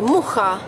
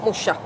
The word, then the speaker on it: Mucha: lived in France, and there they used to pronounce his name, that we say Mucha, that's C-H, they pronounce as Sh, Mucha.